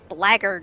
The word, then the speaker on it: blackguard: I think I saw recently a reading where that word was pronounced blackguard. Blackguard? Blackguard. Yes, I think I've heard that before, that yeah. is in fact a pronunciation of it that is fairly common.